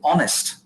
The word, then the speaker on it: honest: hand when you say honest when you say honest this is an exception uh you have to